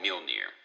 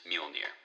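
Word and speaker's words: Mjölnir: around with this big hammer which is called mule near do not get confused by the spelling that is how he pronounced is mule near yep unit his mighty hammer and you know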